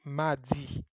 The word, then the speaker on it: Madi: You say Mardi, Mardi.